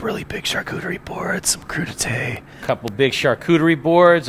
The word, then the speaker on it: crudité: We're going to build a couple of really big charcuterie boards, some crudité. A couple big charcuterie boards, a crudité board, which is a vegetable board.